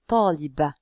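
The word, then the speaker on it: طالبة: Regardez, taliba. J'entends un ba, puisque j'ai ici une fatha.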